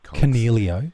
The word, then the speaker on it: Coniglio: Coniglio.